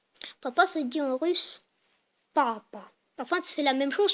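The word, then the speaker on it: папа: En français, on dit papa, juste P-A-P-A, quoi, papa. En russe, on dit papa. Donc, papa. En gros, le premier syllabe, on le prononce plus longtemps.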